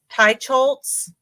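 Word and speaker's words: Teicholz: a healthy diet by Nina how do you pronounce her name hi chz Tai scholz okay and so it's this one it looks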